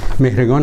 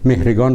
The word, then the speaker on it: مهرگان: آورد از هر ناحیه مهرگان هم مانند نوروز از آیین‌هایی اس که دیگران از ایرانیان گرفتند به ویژه در جامعه‌های عرب عرب‌ها چون صدای گ ندارند مهرگان را مهرجان تلفظ می‌کنند ابوعبدالله مقدسی یا مقدسی